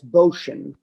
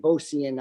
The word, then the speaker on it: Bocian: Well, the name means stork in Polish, and I think the correct Polish pronunciation is Bocian. But I think my grandparents and most of the family pronounce it as Bocian.